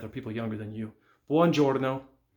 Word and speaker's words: buongiorno: Buongiorno. Buongiorno is the same way. Buon. And then GI makes the j sound. Orno. Buongiorno. Uomo.